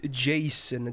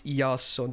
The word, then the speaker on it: Jason: american name my dude his name is yasson okay deal with it that's how i pronounce it it's an ia in pronunciation a lot of people don't know that because obviously a lot most people would say jason because you know it's spelled exactly the same way as the very common american name jason so